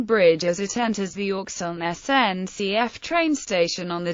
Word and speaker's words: Auxonne: the usage in practice however the pronunciation of Oxon is debatable the inhabitants themselves being divided between a pronunciation of K's and SS local elected officials as well as sncf announcements retain the pronunciation K this pronunciation has the